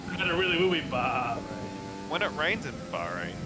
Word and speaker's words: Bahrain: I don't race Bahrain That's in the day.